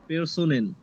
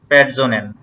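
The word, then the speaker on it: Personen: আমরা কি পড়ছিলাম যে আপনার হচ্ছে এস এর পরে যদি এ ইউ ও থাকে তাহলে পেরসোনেন। কি বর্গীর জয়ের মতো উচ্চারণ হয়। সো হ্যালো এখানে দেখেন ও এর মতো আছে, সেজন্য আমরা প্যারজোনেন বলবো।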